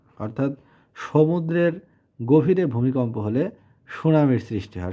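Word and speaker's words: tsunami: সমুদ্রের গভীরে ভূমিকম্প হলে সুনামির সৃষ্টি হয় সুনামি বানানটা হচ্ছে টি ইউ টি এস ইউ এন এম আই সুনামি টি টা সাইলেন্ট আর এই সুনামি এটা একটা জাপানি শব্দ 42 নাম্বার হচ্ছে যে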